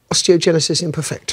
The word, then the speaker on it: osteogenesis imperfecta: Now, you have osteogenesis imperfecta. Yes. Oh, you pronounced it right.